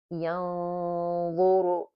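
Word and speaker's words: ينظر: See, the noon is already, the ghunna is heavy because the next letter is dha. Dha itself, it's a heavy letter. It's pronounced heavy. So therefore, the ghunna becomes heavy because you're getting ready to pronounce the dha.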